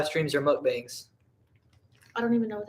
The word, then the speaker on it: mukbang: I like some and do you say that muck backs uh is that how you say it I've never heard that book it's called a mukbang oh I don't if you think Diablo is spicy you're still 13.